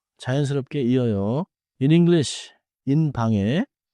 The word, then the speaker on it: 방: In English, in 방에 keep 방 nasal and connect into 오늘은 이 한 문장만 기억하세요. 저는 방에 있어요. 저는 방에 있어요. Smooth final, 이응, no hard G kick.